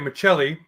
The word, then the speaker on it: Maccelli: Now I'm going to pronounce it right. Maccelli.